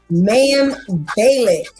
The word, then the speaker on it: Mayim Bialik: Oh, wait, I want to make sure I pronounce her name properly. Mayim Bialik.